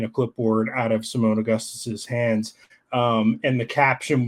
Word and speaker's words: Augustus: as serious I first introduced LSU assistant Simone August for holding strong I hope I pronounced that right um Simone Augustus yeah Simone Augustus for holding strong despite the